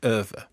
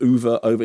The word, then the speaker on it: Ove: between the two and the Swedish pronunciation is going to be open to interpretation as far as we cancern so when I was watching oov isn't it yes it is and the closest I